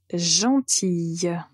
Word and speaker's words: gentil: la lettre L au masculin gentil au féminin gentille la lettre finale ici et la lettre L mais quand vous prononcez cet adjectif en masculin pour ne prononcer